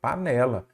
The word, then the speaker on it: panela: Qual que é a sílaba tônica? Panela, panela ou panela? Panela. Então, é a penúltima, aí você já sabe.